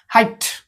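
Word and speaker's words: height: देबे हाई किंतु आको टी पड़िबे आको नाही हाइट ओके हाइट अर्थ उच्चता तापरे एठी देखंतु वे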